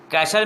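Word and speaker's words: castle: Aladdin का किला है shade व बोलिए कैसल मींस किला है और डौ मुसम्मत अब कैसल मिट्टी साइलेंट है एंड वॉटर बैकुंठ और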